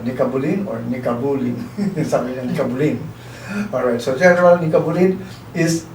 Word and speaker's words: Nikabulin: Kasi I asked him that kanina, ano ba ang pronunciation? Nikabulin or Nikabulin? Sabi niya, Nikabulin.